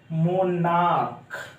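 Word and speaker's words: monarch: जैसे मोनार्क, क्या, मोनार्क, देखिए MONAR, तो उसके बाद CH है, CH है, जो CH का उच्चारण क्या हो रहा है, क, इसीलिए इसका प्लुरल क्या बनेगा, मोनार्क, MOANRCH, मोनार्क्स हो गया।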